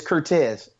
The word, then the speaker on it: Curtez: I we're like now now how do you say your first your first name it's ctez so so we were